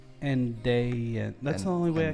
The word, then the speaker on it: andaian: Let me know if I'm pronouncing that right. Andaian? Andaian.